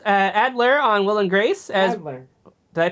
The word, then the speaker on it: Adler: Adler. Did I pronounce that right?